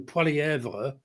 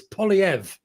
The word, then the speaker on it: Poilievre: First of all, how do you pronounce it? Because every time I call him Poilievre, because as you say, Canada's a bilingual, I get told it's Poilievre. Yeah, it doesn't. He doesn't use the h.